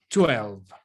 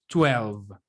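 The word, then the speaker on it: twelve: el reloj, que sería 12. Esa W se pronuncia como si fuera una U, y la última V, la última E, mejor dicho, no se pronuncia. 12.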